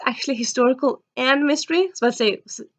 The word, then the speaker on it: Versailles: actually historical and mystery Versailles this is actually just two syllable but yeah it's also